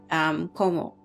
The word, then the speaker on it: cómo: It's pronounced like como, like Andrew Como or the governor or the newscaster, right?